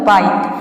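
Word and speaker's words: bite: हैं rule number दो यदि किसी वर्ड में आई के बाद यहां पे देखिए दो नहीं रहेगा आई के बाद कॉन्सोनेंट प्लस ई हो तो आई को आपको आई प्रोनाउंस करना है फॉर एग्जांपल बाइट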